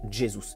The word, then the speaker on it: Jesus: En effet, le Brésil n'est pas un pays hispanophone. À la différence de la Colombie, par exemple avec Rames Rodriguez, le J ne se transforme pas en R chez les Brésiliens qui prononcent donc Jesus.